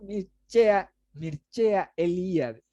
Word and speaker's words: Mircea Eliade: Mircea Eliade. Se escribe Mircea, se pronuncia Mircea Eliade.